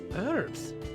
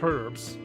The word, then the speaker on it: herbs: hot what is it herbs or herbs oh she she pronounces the h what kind of her